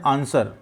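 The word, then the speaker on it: answer: में साइलेंट क्या है आप जब आंसर बोल रहे थे यहां डब्लू का कहानी कुछ उच्चारण ए रहा है इसका मतलब ब्लू आपका क्या है यहां पे साइलेंट है मुख्य अक्षर है ठीक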